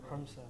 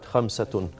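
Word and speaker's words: خمسة: Khamsa. Khamsa. Okay, right. Khamsatun.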